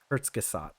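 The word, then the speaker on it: Kurzgesagt: oh no ctz Gat Kurtz gasat oh okay Kurtz gasat yeah okay I'll have to try to remember that pronunciation uh yeah it it's a good channel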